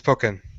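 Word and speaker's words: Pokkén: oh yeah poken tournament poken however you pronounce it here it goes uhuh it's poken oh okay it actually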